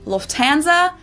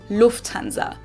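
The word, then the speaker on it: Lufthansa: In English, people usually say Lufanza, but in German, we say Lufanza. So, the emphasis on the first syllable, Lufanza versus Lufanza.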